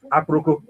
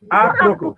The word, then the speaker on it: Aproko: Aproko. Yes. What do I You call say it? Aproko. Aproko. It's not Apro. Aproko. Aproko.